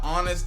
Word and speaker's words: honest: It's crazy how honest and honor both have silent letters in them. Spin it. I didn't even think about that. No one does. But honest and honor, you don't even pronounce the H's.